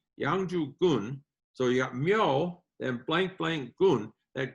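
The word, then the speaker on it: 묘: The first character after the transition I talked about in one of my other videos is pronounced myo, and it means grave.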